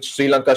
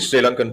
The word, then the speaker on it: Sri Lanka: in in sri lanka if you can allow me calling sri lanka sri lanka uh because apparently that's how you say it uh he [